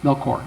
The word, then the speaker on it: Melchior: Melchior? Oh, yeah. Yep, Melchior.